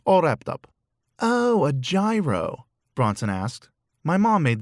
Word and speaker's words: gyro: wrapped up oh a gyro bronson asked my mom made those one time it pronounced yiro you see gy is ye not ja hiro that's what you say